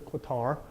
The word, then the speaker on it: Qatar: This is Qatar. No, Qatar, I think it's pronounced actually now.